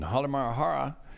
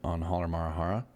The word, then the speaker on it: Halmahera: In Halmahera, occasionally above average explosions continue. They're saying as well, it's above average explosions. And both Ibu and Dakota there on Halmahera. I know what it's Halmahera, but I have another syllable and I added it.